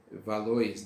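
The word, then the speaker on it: Valois: desse período foi a dinastia valor se escreve valores né mas fala valor é e esse período é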